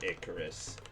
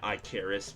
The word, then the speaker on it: Icarus: better than Myth of Icarus. Shout outs to me pronouncing it Iicaris the first time I was playing it